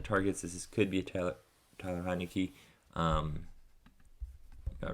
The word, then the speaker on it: Taylor: his name right because i did say tyler yep taylor i was wrong we'll move on okay